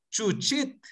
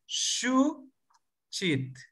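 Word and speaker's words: xuchit: Entonces, por ejemplo, yo no quiero que usted pronuncie SHU SHEET. No es doble SH. Tampoco es CHU CHEET. Tampoco. Es SHU CHEET. SHU CHEET. Entonces, ¿qué significa eso? Eso significa flor, flor. Entonces, hay que pronunciar correctamente shu chit. La primera tiene un ceseo, shu, y la otra es cortante, chit, chit.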